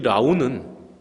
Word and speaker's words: 라운: 이 라운은 누구냐? 부처님의 아들인 라훌라를 한문으로 발음해서 라운이라고 합니다. 라운.